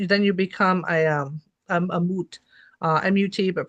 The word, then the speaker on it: mut: If you're not mummified properly, then you can't go on the journey, which then you become a mut, M-U-T, but pronounced mut, which is just kind of like a dead thing that's stuck in transition.